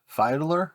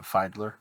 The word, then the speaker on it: Fiedler: fileder f-i-e-d-l-e-r file find fidler fidler fidler audio I believe I'm not 100 sure on how to pronounce that but I'm pretty sure that's how you do it Findler anyway so I have